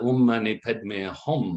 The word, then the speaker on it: Om Mani Padme Hum: Om Mani Padme Hum.